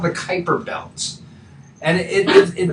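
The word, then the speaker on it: Kuiper: So, we talked about this thing called the Kyper belt and it it rhymes with Viper, but it's, you know, spelled Kiper.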